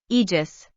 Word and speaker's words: Aegis: additions to God's Unchained I believe I pronounce this card wrong the entire video Aegis that's what Google says is how you pronounce Aegis uh I'm gonna say it wrong the whole video though so be prepared